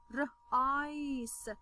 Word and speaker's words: rice: Why did I say s and not k, for example? Because when I have letter C and then letter E, it says the soft sound of letter C. Okay, so I say s, r, ice, rice.